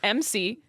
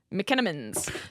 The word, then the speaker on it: McMenamins: It's McMenamins. McKennaman's Theater.